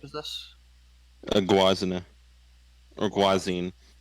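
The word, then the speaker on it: Gwazine: A Guazina or Guazine. If you want to go with the German pronunciation, it would be Guazina.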